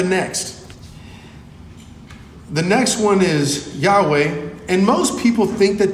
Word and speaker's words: Yahweh: word and so but most people say that Yahweh would be the pronunciation and the meaning it